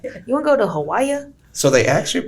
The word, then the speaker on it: Hawaii: You want to go to Hawaii? So they actually pronounce it Hawaii. The W is not even pronounced.